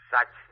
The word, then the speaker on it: Sachs: Sachs, S-A-C-H-S. Pronuncian la CH como K.